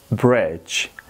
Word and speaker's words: bridge: لغت اول ما است bridge bridge و یاد داشته باشید دی که در وسط است تلفظ نمیشه.